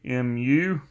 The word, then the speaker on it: mu: you say it like mu so you say it mu mu is the symbol